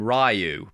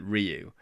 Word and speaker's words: Ryu: I I called him Rayu back then, but I think now I know that you're supposed to pronounce it Ryu, but I idolized him